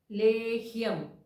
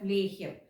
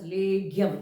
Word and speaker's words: Lehyam: the reasons SRA so coming back to this point of leim everybody is pronouncing it as leum it is not leum and this is a